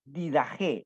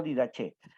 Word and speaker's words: Didaché: del hebreo al español se debe pronunciar dida G no didaje y lo que le